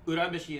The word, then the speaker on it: Urameshi: But yeah, Urameshi is how it's actually pronounced. Not Urameshi, Urameshi. Like, in Japan, any name that starts with a U makes a U sound.